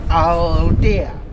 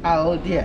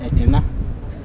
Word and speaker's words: Aldeia: The actual word is Aldeia, A-L-D-E-A, Aldeia, and that means village in Portuguese language. This was also mispronounced to be Edina, and that has also come to stay.